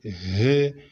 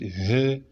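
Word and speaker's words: ه: We call it he, something like that. Don't just say he, you call it he, something like that. You can mean to put 2H, he, something like that.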